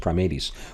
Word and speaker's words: Primates: that taxon the order called primates we are primates but it's pronounced primates which included the Apes and he went on